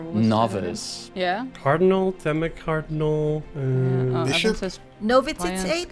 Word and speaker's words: novitiate: Novitiate? How do you pronounce it? Novitiate.